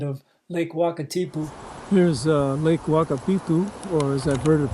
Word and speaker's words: Wakatipu: Here's Lake Wakapitu, or as I've heard it pronounced, Wakapu.